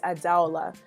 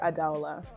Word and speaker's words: Adala: right but it is adala um some people call me Ada for short I prefer adala okay adala is how I say my name and yeah so